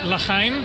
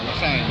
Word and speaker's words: l'chaim: So how do you say cheers or something like l'chaim? Yeah, l'chaim.